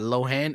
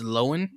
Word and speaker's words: Lohan: for many many years it's not lohan it's lowen lauren yep oh low and